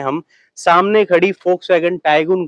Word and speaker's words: Volkswagen: फोक्सवैगन होता है क्योंकि जर्मन लोग वी को एफ प्रोनाउंस करते हैं, उस वजह से वोक्सवैगन को फोक्सवैगन बोलते हैं। आप कुछ भी बोल सकते हैं, लेकिन असल में फोक्सवैगन बोले तो ज्यादा अच्छा लगेगा।